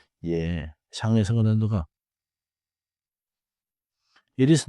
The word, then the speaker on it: 예: 예. Is also short and clean. 예.